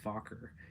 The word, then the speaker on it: Farquhar: it, and I said it's technically pronounced Fokker, and now he goes around whenever I see him saying, "Hey, what's up, motherfucker?"